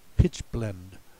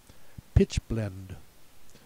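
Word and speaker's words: pitchblende: the next word also has it should be pronounced pitch blender in German but we pronounce it pitch blend so don't get fooled by that trap either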